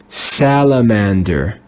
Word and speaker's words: salamander: with the sound a but here it's pronounced with the sound ah it's irregular salamander salamander this is another